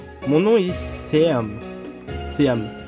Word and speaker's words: Seam: Seam, ça se prononce Chaon.